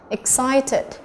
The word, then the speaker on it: excited: Excited, excited, trọng âm thứ hai, vậy đáp án của chúng ta chỉ là đáp án C.